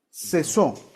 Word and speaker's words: cesó: ponle una marquita arriba, ponle cesó, con acento en la O, cesó de hacer su obra.